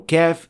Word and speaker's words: ك: The most common mistake for kaf is applying qalqala on it, especially when it has sukoon. Like so. Akbar, akbar. فَأَهْلَكْنَاهُمْ. So this is not the way to pronounce kaf. There should not be any qalqala. However, it should be pronounced with hams as we indicated before.